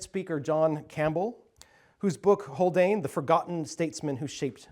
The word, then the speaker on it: Haldane: Viscount of holdan and I should say it's not pronounced howan is holdan and we actually have